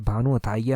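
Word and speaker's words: भानु अथैया: है, उनका नाम था भानु अथिया। ऑप्शन डी जो है वो सही आंसर है, भानु अथाइया उनका नाम था, इस तरह से प्रोनाउंसिएशन है।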